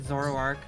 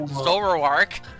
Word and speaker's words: Zoroark: No, it's definitely me mispronouncing it and making it like two syllables instead of three or four.